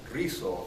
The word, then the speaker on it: Risso: My name is Risso. Thank you for trying to roll your R's.